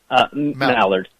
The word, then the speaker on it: Mallard: law of which Karen is it Mallard or Maillard how do I say her name now Mallard Mallard I just want to say it right